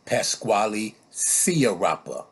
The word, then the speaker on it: Pasquale Sciarappa: His name is Pasquale Sciarappa or something like that. I don't know. It's pronounced Pasquale Sciarappa.